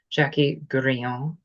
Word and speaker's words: Jacquie Grillon: Today I am back with a our lovely guest Jackie Guron, a mentor, healer, and transformational expert.